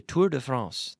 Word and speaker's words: Tour de France: do we try to we try to pronounce it the French Way Tour de France Tour de France but we don't say the tour of France of France we say the Tour de France we we we pronounce it or we make an effort in English to pronounce according to the native language which is French in this case Tour de France but